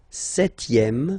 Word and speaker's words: septième: Le septième, so remember we don't pronounce this P here.